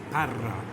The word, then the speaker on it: Parra: name again, just because I like how you roll the R. Well, Jack, that's very easy. Parra.